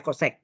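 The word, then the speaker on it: cosec: koscan ini supaya CSC boleh kan internasionalnya CSC bacanya kosek ya kosekan Pang NX DX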